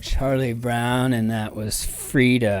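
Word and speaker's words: Frieda: Curly-haired friend of Charlie Brown, and that was Frida. And I think it's spelled like you would spell it in the proper German, Frida, with the long E being the sound.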